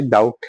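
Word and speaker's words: doubt: अभी किसी नए पर्सन को अगर आप सिखाओगे डाउट सिर्फ बोल के और उसको बोलोगे आप स्पेलिंग लिखे तो वो लिखेगा डी ओ यू टी डाउट है ना? आउट में वो डी लगा देगा तो वो डाउट हो जाएगा। एक्चुअल में भी ये स्पेलिंग पहले यही थी। ऑलदो लास्ट में ई लगता था तो बी ओ यू टी ई डाउट थी।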